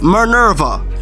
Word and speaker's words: Minerva: Like when Minerva, can I pronounce her name right? It's Minerva.